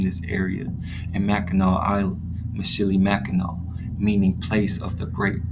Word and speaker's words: Mishinimaki: Mackinac Island is a shortened version of the Native American name pronounced Mishinimaki. The Anishinaabe people named this area, and Mackinac Island, Mishinimaki, meaning place of the great turtle.